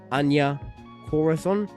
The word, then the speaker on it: Anya Corazon: character of, like, I think her name is pronounced Anya Corazon.